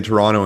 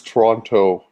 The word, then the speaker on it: Toronto: is there a difference Toronto Toronto how did I say if you're not if you're not from Toronto you say Toronto but if you are from Toronto you don't pronounce that last T oh the last T